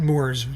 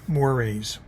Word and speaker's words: mores: I know it's spelled mores, and there should be a little symbol over the E. It's not mores, it's mores, cultural mores.